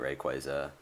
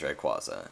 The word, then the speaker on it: Rayquaza: I am never pronouncing it Rayquaza. It is Rayquaza.